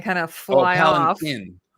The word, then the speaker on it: palanquin: palanquin, not a Pelican, chin. pelican. It looks like Quinn, but it's a palanquin, I think is how you say it.